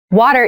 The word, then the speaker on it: water: this word that first t is actually reduced it sounds more like a d in fast speech water is important to our